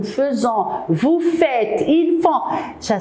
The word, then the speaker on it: faisons: On écrit avec AI, nous faisons, mais on le prononce nous faisons.